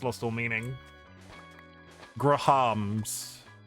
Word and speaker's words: Graham: were a thing, or Grams. I've said it so many Grams. times now, it's lost all meaning. Grahams. Yeah, so it's clearly 2 syllables.